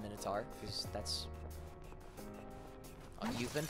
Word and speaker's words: Minotaur: know how to impress it might be like an actual Greek it's minitar it's original Greek pronunciation that's original Greek I